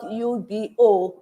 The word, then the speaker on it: Ubo: It's spelled U-B-O, Ubo Soup from Enugu State.